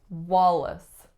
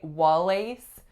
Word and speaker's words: Wallace: we have Wallace Wallace two syllables first vowel is aa second syllable is what Wallace it's a schwa and a trick with this one is that la c e is the word lace but we don't say wha lace we say Wallace